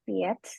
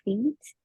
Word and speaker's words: fiets: Jadi kalau misalkan ada I dan E, kita bacanya I panjang, I-nya jadi panjang. Jadi bukan Fitz, nggak kayak gitu. Tapi Fitz, Deer, and Keys.